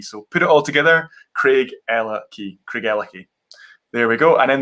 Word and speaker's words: Craigellachie: So in explaining how to say it, I always say break it down. You've got a boy's name, Craig. So we, of course, have Daniel Craig there. A girl's name, Ella. You have Ella Fitzgerald.